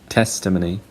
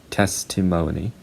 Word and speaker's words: testimony: And for this one, British people say testimony, Americans say testimony.